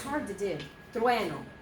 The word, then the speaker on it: trueno: Trueno. Trueno. Thunder. Okay, 2 syllables only.